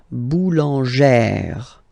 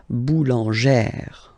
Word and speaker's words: boulangère: plus this accent grave, you pronounce it like eh, really open eh sound. Okay, so boulanger, boulanger, and then feminine form, boulangère, boulangère. Same thing, don't insist too much on the final e, boulangère.